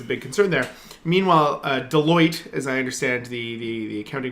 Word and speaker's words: Deloitte: Meanwhile, Deloitte, as I understand the accounting firm is pronounced, has come out with their report yesterday, which was quite a bit different from BC Hydro's report.